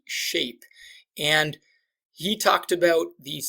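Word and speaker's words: SCHAPE: the acronym shape and shape is spelt a little differently at PG see when when he invented it he intentionally invented it with a C so it's s CH a PE shape and he talked about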